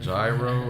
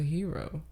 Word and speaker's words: gyro: Is it gyro or a hero? It's a hero. It's a hero. I don't think anybody would be out here pronouncing. I hear a lot of people saying gyro because they're ignorant as fuck.